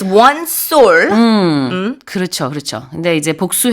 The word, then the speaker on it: sol: which is soul, but the plural form, I've just been informed, is soulless.